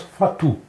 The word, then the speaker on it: Falstaff: En normand, ce nom-là, ça se prononce Fatou.